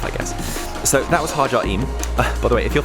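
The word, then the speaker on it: Ħaġar Qim: So, while I can tell you that this is pronounced Mnajdra, and this is pronounced Hagar Qim, the rest of the language I will probably completely annihilate, so apologies all round.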